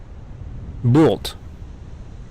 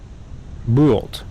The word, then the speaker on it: Bult: Oh, and this game is supposed to be pronounced um Bolt. Bolt is my understanding.